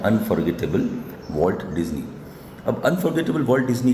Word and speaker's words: डिज्नी: और ये जो चैप्टर लिखा गया है वो इनके जो बड़े भाई हैं रॉय ओलिवर डिज्नी, उन्होंने लिखा। देखना इसका प्रोनाउंसिएशन डिज्नी है, डिस्नी नहीं है, डिज्नी है। तो ध्यान देना, वॉल्ट डिज्नी के आपने बिल्कुल सुना ही होगा बहुत ज़्यादा।